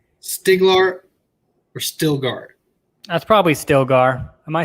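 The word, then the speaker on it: Stilgar: okay is it stiglar or stillgaard that's probably stillgar am i saying it wrong i probably am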